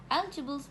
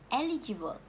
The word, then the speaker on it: eligible: Eligibles mean able to be chosen for something. It is like having a necessary qualities. Malaysian usually mispronounce this word as eligible, while the correct pronunciation is eligible.